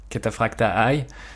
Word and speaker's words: Cataphractii: Alors il y a tout d'abord l'armure Cataphractii, que les Américains prononcent parfois Cataphracta Eye. Je pense que Cataphractii sonne un peu mieux et un peu plus